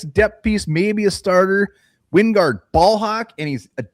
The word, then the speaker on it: Wingard: I heard him pronounce it Winnegard. No. Yeah. It is not Winnegard. Who pronounced it Winnegard? So they're on CBS, and they're pronouncing it Winnegard. They said it wrong. It is freaking Wingard from Wyoming.